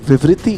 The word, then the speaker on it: Viviti: Viviti Viviti is the right pronunciation just looking.